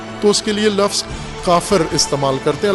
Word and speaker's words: کافر: اس کے لیے لفظ کافر استعمال کرتے ہیں. البتہ پشتو لہجے میں کاپر کہتے ہیں، کاپر.